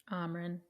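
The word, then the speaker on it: Amren: got the blood rubies Amron that rhymes with Ramen top top Ameren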